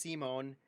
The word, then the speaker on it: Simon: Pronounced Simone is a mangaka in another universe.